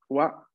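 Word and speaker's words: は: Esta es la sílaba ha, pero cuando se encuentra en función partícula, la lectura es wa, como en watashi wa gakusei desu.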